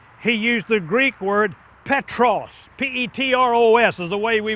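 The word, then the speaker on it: Πέτρος: When He said, Thou art Peter, He used the Greek word Petros. P-E-T-R-O-S is the way we would spell it.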